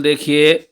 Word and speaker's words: the: Okay बच्चों, अब हम देखेंगे कि वोवल से पहले अगर डेफिनेट वर्ड आएगा तो हम क्या पढ़ेंगे? इसको हम पढ़ेंगे दी एप्पल।